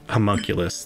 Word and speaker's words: homunculus: The ruby serpent, the drake, and she points to Snick's, how do you say, homunculus?